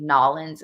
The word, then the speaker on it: New Orleans: New Orleans or New Orleans or um apparently nawlins is a pronunciation of it as well oh you're going